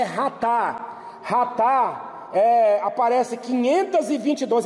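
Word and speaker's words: חטא: Outros termos aqui, ratá, aí tá chatá, né, porque é escrito dessa forma, mas a pronúncia no hebraico é ratá.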